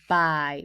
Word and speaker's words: by: the tricky word my the letter y is pronounced I so this word is I bye read the word everybody